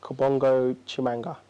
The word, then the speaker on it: Kabongo Tshimanga: us how did you say your full name Kabongo chimanga really yeah and it's obviously well known this